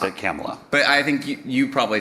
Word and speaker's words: Kamala: In fairness, Chuck Schumer mispronounced Kamala Harris's name over and over.